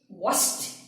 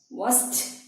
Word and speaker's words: washed: Pronunciation. Traveled. Traveled. Washed. Washed.